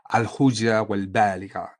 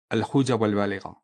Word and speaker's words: الحجة البالغة: So let's repeat that sentence again, which Ibn al-Arabi calls the logic, the wisdom of al-hujja wal-baligha. It's just for pronunciation correction. Al-hujja wal-baligha.